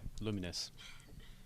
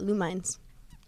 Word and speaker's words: Lumines: resz and now lumines did I say it right yeah luminous cuz some people call it lumines oh yeah no I